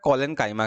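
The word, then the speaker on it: collenchyma: कॉलेनकाइमा के कारण, याद रहे, क्लोरीन नहीं कॉलेन।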